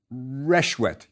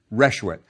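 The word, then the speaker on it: rswt: out what's going on how would you pronounce it resh wet good that's right resh wet that's how it probably sounded the word means joy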